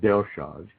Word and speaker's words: Dellschau: Most people, when they look at Delshaw's, and then if anybody wants to go look at some of these drawings, it's spelled Dellschau.